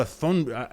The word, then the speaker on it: Thunberg: Thunberg? Yeah, I think the H is silent. Is it? I'm pretty sure it's Thunberg.